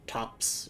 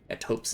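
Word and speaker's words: Thops: So, we can give that to Tops or Topes. Topes is how you say it.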